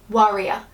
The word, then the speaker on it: worrier: No, worrier.